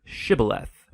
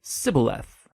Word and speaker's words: shibboleth: and asked everybody who wanted to cross to pronounce the Hebrew word shibboleth it turned out that the ephraimites had grown up pronouncing that word differently so instead of saying shibboleth they would say sibileth when that happened the gilianite guard would execute